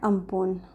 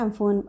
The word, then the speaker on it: Amphan: इसको प्रोनाउंस किया जाता है अम्पून, अम्पून बोला जाता है, अम्फून, एम्फेन, अम्पून, कुछ भी बोल सकते हैं।